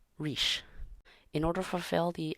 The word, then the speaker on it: rís: a front vowel, E, so the word is pronounced riche.